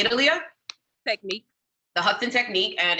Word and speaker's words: The Hudson Technique: The Hudson Technique, and it's located in which state?